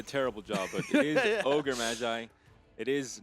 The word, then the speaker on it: Ogre Magi: Swim did a terrible job, but it is Ogre Magi.